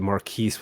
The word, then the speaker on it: Marquis: bit of the show, Marquis? No, just so that the pronunciation of my name is actually MarQuese with a flat S.